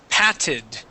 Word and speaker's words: patted: okay good okay now the word patted okay this has a Double T and with this word the Double T sounds like a d just like you did